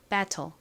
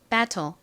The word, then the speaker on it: battle: 소리가 나지 않습니다 그래서 ble 이렇게 발음이 되죠 battle 발음 해 볼게요 battle 한 번 더 해 볼게요 battle 좋습니다 자 팬들과 함께 적어 볼게요 비읍 소리